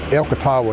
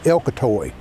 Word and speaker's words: Elkatawa: for the shove over Elkatawa Hill, which locally is Elcatoy. Uh every every place has a local pronunciation which would always be the official. So Elcatawa Hill is Elcatoy Hill.